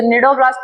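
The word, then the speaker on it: cnidoblast: सिलेंड्रेट या फिर नीडोब्लास्ट या फिर नेमोसाइटिस। इसे नीडोब्लास्ट भी बोलते हैं और नेमोसाइटिस भी बोलते हैं। कुछ भी बोल सकते हैं। लेकिन निडोब्लास्ट सबसे अच्छा उदाहरण है या फिर सबसे अच्छा प्रोनाउंसिएशन है।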